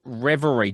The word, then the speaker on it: Reverie: The new album is called Reverie. Did I pronounce that right?